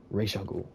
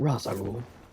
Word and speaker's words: Ra's al Ghul: Always remember, Ra's al Ghul, not Ra's al Ghul.